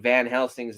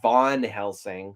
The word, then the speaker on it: Van Helsing: extremely uh annoying gag of mispronouncing Van helsing's name as Von Helsing like what the [